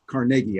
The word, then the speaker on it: Carnegie: heroes in life is Andrew Carnegie pronounced that way Carnegie as the Scottish would he was one of